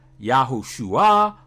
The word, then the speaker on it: Yahushua: The non-contracted form is pronounced Yahushua or Yahushua. This is a 6-letter pronunciation, but there is also a 5-letter pronunciation, which you will hear many say, Yahusha, which seems to be